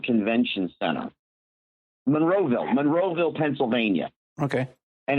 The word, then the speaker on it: Monroeville: it's um uh at the I gotta always pronounce the town right the Moorsville Convention Center Monroeville Monroeville Pennsylvania okay and it's got Richard drus